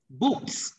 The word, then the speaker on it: books: Books phát âm là S, bởi vì phía trước chữ S là chữ K.